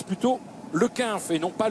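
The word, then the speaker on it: Le Cunff: Merci à Robert Chipote qui me précise qu'on prononce plutôt le Quinf et non pas le Cunf en ce qui concerne Kevin Le Quinf de la formation Saint-Michel Aubert 93.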